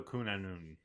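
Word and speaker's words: Cŵn Annwn: And a n w n is pronounced anon. So kunon.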